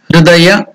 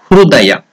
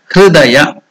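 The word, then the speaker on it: हृदय: It is neither U, it is neither E. Not even Hridaya, not even Hrudaya.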